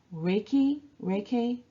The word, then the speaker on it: Reiki: So Reiki, I'm not sure how to pronounce it. Reiki. Reiki is 2 Japanese words, right? Rei and ki.